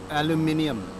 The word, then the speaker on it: aluminium: them all over them aluminium fritz we must have an extra syllable this sounds like my